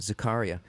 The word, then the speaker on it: Zakaria: I'm going to subtitle it The Capitalist Manifesto, and it's by Fareed how do you pronounce Zakaria. it? Zakaria.